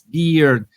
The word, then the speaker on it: beard: beginning I know that it's not bird it's beard I always forget that